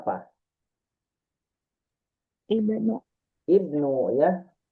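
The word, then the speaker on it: ابن: Ibnu. Ibnu ya. Ya betul dibacanya ibnu. Kalau menurut rumus kan harusnya mah u ya. Tapi kalau dibaca u benu itu kurang tepat ya, kurang tepat. Maka dibacanya harus i.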